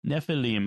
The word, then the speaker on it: Nephilim: Nephilim yeah Nephilim okay typically in Hebrew the accent is on the last syllable Nephilim I will try to